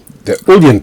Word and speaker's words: Uilleann: Now, Patrick played the Uilleann pipes, sometimes pronounced the Ellen pipes.